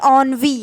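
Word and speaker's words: ennui: शब्द है आपका देखिए इसकी प्रनंसीएशन होगी ऑन वे इसको बोलते हैं ऑन वे स्पेलिंग ये है बट इसको पढ़ने ऑन वे है ऑन वे मिंस फीलिंग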